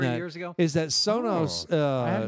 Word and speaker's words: Sonos: Soros? Soros. S-O-N-O-S. It's pronounced Sonos.